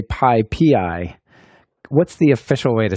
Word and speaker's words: PyPI: to say it is pi pii it's python package index so you you put the emphasis on the the pi P A lot of people do call it Pi pie um I've heard Pippi